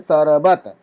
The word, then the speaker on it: शरबत: ठीक है, शरबत, ब के बाद अ का उच्चारण होता है शरबत, शरबत।